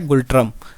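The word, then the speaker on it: ngultrum: तो दोस्तों इसमें एन भी साइलेंट आपका क्या है, गुल्ट्रम।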